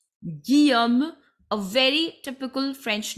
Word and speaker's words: Guillaume: The pronunciation of this name is Guillaume, double L silent. Guillaume, a very typical French name it is.